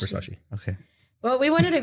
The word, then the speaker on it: Versace: Yes, it's Versace.